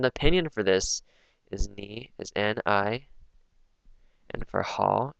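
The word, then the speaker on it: 你: So like just knowing this, you might be able to sound it out, ni. So, but for me, I guess like ni doesn't really, it's not that intuitive. Like ni for me probably would sound like ne rather than ni.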